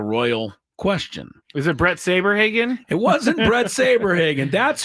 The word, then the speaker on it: Saberhagen: lot of them didn't really remember how to pronounce his name. Sabrehogen. Yeah, they were kind of close, but we knew who they meant. Uh Brett Saberhagen was an excellent right-handed pitcher in 1985.